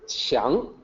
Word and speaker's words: 强: First, we have this character, 强. So in pinyin, it's spelled with a Q, and it actually sounds like CH, 强.